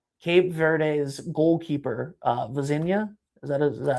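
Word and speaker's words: Vozinha: Cape Verde's goalkeeper, Vazinha, is that how you pronounce his last name?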